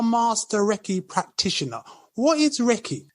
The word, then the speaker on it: Reiki: What is Reiki? First of all, Reiki is a 2-syllable word, which comes from 2 Japanese words, which means God's wisdom and life force energy.